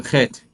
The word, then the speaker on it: Chet: The eighth letter of the Hebrew alphabet is the letter Chet. It sounds similar to the way Spanish people pronounce the letter Jota.